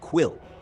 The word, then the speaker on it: Quil: on the second syllable for quill it's quill with a short sharp sound thanks for bringing this